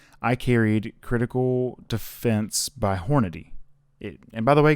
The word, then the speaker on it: Hornady: but that's like the thing so no it's hornady okay calm down but i carried hornady critical